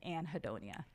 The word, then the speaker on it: anhedonia: I have helped my patients to name as anhedonia.